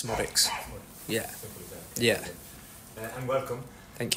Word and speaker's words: Szmodics: Yeah, so the Z's basically silent, so it's Szmodics.